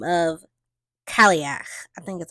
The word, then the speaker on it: Cailleach: So in Celtic traditions, winter becomes once again a goddess by the name of Cailleach. I think that's how you pronounce that. I think it's Cailleach.